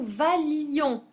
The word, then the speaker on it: valions: alors attention que nous valions. On supprime le i et on supprime un l prononciation valion que vous viez et qu'il vaille.